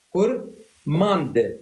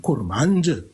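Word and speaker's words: كرمانج: علم التفصيل اللغويستكس كور ماند ماند هي كورماند لكن الناس عندما تنطق بسرعه تقول كورمانج الدال مثل كلمه ارمند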